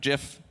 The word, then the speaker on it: GIF: GIFs, we were using GIFs, and it's just part of communication, and I don't think that it necessarily has to be like business emails are very sterile, just business. Oh, yes, it's pronounced GIF.